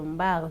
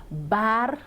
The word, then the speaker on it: Bar: monsieur Mbar voilà nee na bu ma ko wax Mbar parce que Mbar dafay nuroo ak Mbaar yooyu noonu nee na ma bien prononcer son nom Bar B-A-R. Mbaar amul B-A-R.